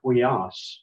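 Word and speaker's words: υἱός: One I can think of is the word huias, which means sun. The first two letters are a diphthong, upsilon, iota, but the iota and the omicron after it, that's not a diphthong, so that's a separate syllable.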